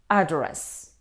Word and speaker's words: address: of the word completely this word contains two syllables if we stress on the first syllable it's a noun address means details of where somebody works or lives what's your address where do you live if we stress on the second syllable it's a verb address means apply to